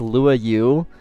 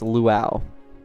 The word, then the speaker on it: Luau: I get a lot of people trying to correct me saying that it's Lua and then I send them the screenshots, the links of the pronunciation and uh then they don't respond. It It's luau.